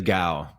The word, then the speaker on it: Kao: It's pronounced with a G sound, so like G-A. You give like G-O-W, like cow. Dude, I have a good friend of mine with the G. It is Gao.